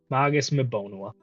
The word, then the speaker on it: Magus Meona: uh I I you you pronounced it weird it's like magu magu meona okay I missed an s in my notes then Magus meona um and we ended